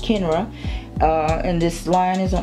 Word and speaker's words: Kenra: touch it up and this here and it's pronounced kenra and this lion is on Amazon and this